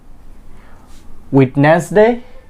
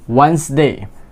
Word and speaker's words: Wednesday: Next word is Saturday, Sunday, Monday, টিউসডে, ওয়েডনেসডে। No, D will be silent. Wednesday.